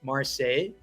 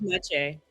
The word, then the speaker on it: Maciej: I believe it's Marseille. Let me know if I said that right in the comments. I think it's Maciej. Maciej?